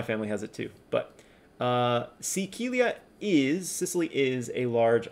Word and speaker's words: Sicilia: It's just pronounced a little different. It's not Sicilia, it's Sicilia.